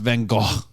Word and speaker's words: Van Gogh: Also, same it's pronounced Van Gogh.